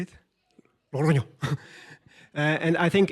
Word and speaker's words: Logroño: Logroño.